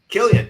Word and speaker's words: Killian: Killian, yeah.